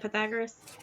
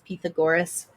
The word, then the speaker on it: Pythagoras: lot um he also Pythagoras or how is that how you say it Pythagoras uh that's how the Americans say it but a Greek person once pronounced it as Pythagoras okay well whichever that